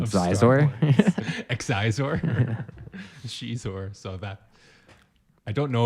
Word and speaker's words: Xizor: She invented Shizor's name, one of the all-time great controversial pronunciations. You mean of Star Xizor? Wars. Xizor? Shizor.